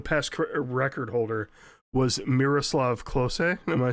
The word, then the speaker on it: Klose: And correct me if I say this name wrong. The The past goal scorer uh the the past record holder was Miroslav Klose. Am I saying that correctly, German guy? Klose.